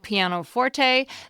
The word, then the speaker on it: pianoforte: When I said pianoforte on the show, I was using the first pronunciation listed in 2 American dictionaries. But if you've always said pianoforte, that's strongly connected to its origin, and musicians will approve.